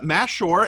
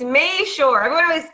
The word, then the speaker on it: Mashore: And it's Mashore, and she is a author and a coach, and just recently released a new book.